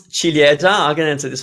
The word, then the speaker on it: ciliegia: That's cherry, and it's ciliegia. Ciliegia. in Italian, in the GIA combo, it's pronounced già. There's no I, you don't pronounce it. So ciliegia. And Narine, how do I pronounce your name in Italian?